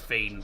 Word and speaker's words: Wien: w i n which is pronounced vin because um in Vienna if you're if you're if you're in Vienna and someone says welcome to Vienna they normally say common in V. It's just known as Vin uh Rapid Vienna.